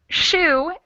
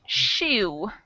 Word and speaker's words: shoe: the chat box so shoe is spelled like toe but pronounced like a u sound and if we compare